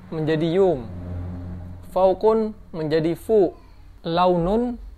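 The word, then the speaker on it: لون: Launun yang artinya warna dibaca lun.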